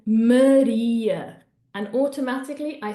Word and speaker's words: Maria: In Spanish, we would say it like this: Maria, Maria. So hopefully you can see that my mouth is opening quite a lot, but this is an open A, okay? Maria, okay? In Portuguese, we're actually going to use closed A's. What does a closed A sound like? It sounds like the word away.